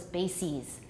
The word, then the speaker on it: bases: basis the plural is bases analysis the pluralist analysis you replace the i with an e and you pronounce it ease so analysis analyses basis